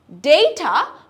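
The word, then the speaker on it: data: ডেটা বা ডাটা দুটোই কিন্তু কারেক্ট, ব্রিটিশরা বলে ডাটা, Americans will say ডেটা, ডেটা, alright, ডেটা।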